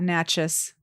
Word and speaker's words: Natchez: the Riverwalk and and um how do you spell that Natchez n-a-t-c-h-e-z wow okay there you go so n-a-t-c-h-e-z